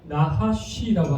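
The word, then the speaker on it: נחש: 그리워해서 사용된이 뱀의 단어와의 히브리어의 원 발음이 나하쉬라고 합니다 나하쉬 그럼 나하시는 뜻이 뭐냐면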